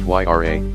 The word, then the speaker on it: Huayra: But the Huayra, pronounced Yra, has the requisite assets.